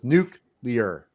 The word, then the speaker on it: nuclear: know what you do you use the word nuke and you put leer on it so it's nuke leer well and it's also